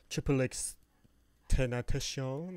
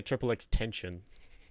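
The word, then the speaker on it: XXXTentacion: Triple X Tentacion, or whatever the heck it is. XXX Tentacion. Tentacion, that's how you say it? Mm-hmm. I always want to say Triple X Tension.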